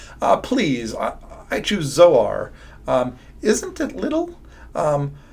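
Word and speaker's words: Zoar: Um it's uh the word little um zor is really how you would pronounce it.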